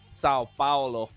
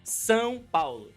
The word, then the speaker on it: São Paulo: But the state is São Paulo. São Paulo. São Paulo. São Paulo. Paulo. São Paulo, yes.